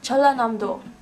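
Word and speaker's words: 전라남도: separately the characters are pronounced as together it's pronounced as chala namdo with almost 2 000 islands scattered along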